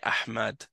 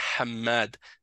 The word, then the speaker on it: Hammad: Il va dire Ahmad alors que c'est pas Ahmad, c'est Hammad. Donc ils ont pas l'habitude de d'avoir un mot qui commence par ha toi ton nom c'est